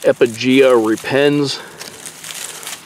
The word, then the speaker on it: Epigaea repens: But this guy right here, I believe it's pronounced Epigaea repens.